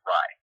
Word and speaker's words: Rai: on a book like Ray. Okay. Here we go. My apologies for correcting you. It's actually pronounced Rye.